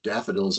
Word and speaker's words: DFDL: And a long time ago when that acronym was first coined, uh, someone said, "Yeah, we can use daffodils as our logo and pronounce it daffodil."